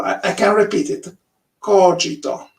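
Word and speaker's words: Kogito: so it's just larry are you a native english speaker yes so you probably say cogito cogito cogito i don't know how you say it yeah we always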